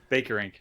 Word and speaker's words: Bakerink: Bakerink.